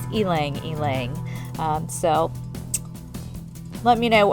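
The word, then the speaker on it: ylang-ylang: the ylang ylang which how do you say Elena Ling Google instructed me that's the proper way to pronounce it I had always said yelling yelling before but um out of curiosity I had Googled it just to be sure and according to google pronunciation it is ylang ylang so let me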